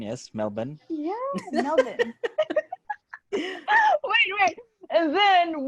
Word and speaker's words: Melbourne: Yeah, Yes, that's the correct pronunciation. Yes, Melbourne.